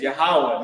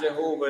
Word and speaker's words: Yahawah: those wrong names right the lord's name is yahawah not Jehovah not yahovah not Yahweh right yah uh Jesus Christ